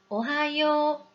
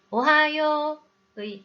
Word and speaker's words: おはよう: 요 다음에 우가 왔으니 오하요 라고 정확히 장음으로 발음해야겠죠? 그리고 여기서 주의할 점이 하나 더 있는데요. 히라가나 하행을 학습할 때 우리나라 사람들이 하행의 발음을 약하게 하는 경우가 있다고 했죠? 오하요의 하처럼 단어 중간에 하행이 오면 발음이 약해질 수 있습니다. 그러니 하를 정확히 발음하도록 주의해 주세요.